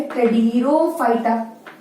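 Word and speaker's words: Pteridophyta: ठीक है, ब्रायोफाइटा के बाद आ जाता है टेडिरोफाइटा, जिसमें पी साइलेंट है, टेडिरोफाइटा.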